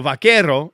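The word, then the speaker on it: vaquero: word because original cowboys couldn't pronounce vakerero which is the Spanish word for cowboy. So vakero is Spanish for cowboy. The original cowboys couldn't say vakero. Buckaroo. You can hear how close it is.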